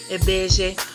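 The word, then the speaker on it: Ibeji: I believe that this is the Yoruba correct way of saying lbeji, but you must realize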